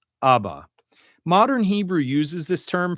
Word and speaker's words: Abba: And this would be pronounced Abba. Abba.